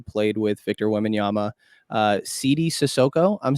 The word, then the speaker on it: Sidy Cissoko: but did I say that correctly yes that CD sissoko okay I've watched enough of the g-league now